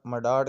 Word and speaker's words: مڈاڑ: برقرار رکھا۔ راجپوت قبیلہ مڈاڑ کا قبول اسلام۔ مڈاڑ لفظ مڈاہر کا موجودہ تلفظ ہے۔ اس قبیلے کی خاندانی